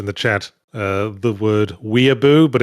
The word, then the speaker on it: weeaboo: Arrow 12 has just posted in the chat the word weeaboo, but it's spelled Ouiabeaux. And if that's an established term for French weeaboos, that's an excellent term. I love it. Weeaboo.